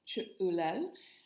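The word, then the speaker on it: Ch'ulel: So life force is pronounced Chu'ulel.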